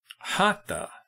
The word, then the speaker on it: hatha: they're wrong sorry so Hatta by the way like I said it's pronounced ha ha ha ha not ha ha there was no th in Sanskrit so hot yoga means